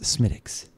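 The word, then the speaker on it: Smithwick's: i believe is pronounced smitics so you don't pronounce the w no oh that's weird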